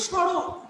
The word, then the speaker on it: স্মরণ: দেখো দন্তা স চন্দ্রবিন্দু রোগান্য দন্তান্ন। দেখো স্মরণ, এই স্মরণটাকে উচ্চারণ করছি আমরা এইভাবে।